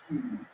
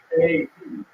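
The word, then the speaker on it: Kyiv: When you listen on the radio, everybody says Kiev.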